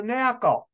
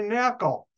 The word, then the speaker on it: NaCl: you please pass the knackle they won't say salt they'll say knuckle and notice if you pronounce NaCl knuckle I hope you enjoyed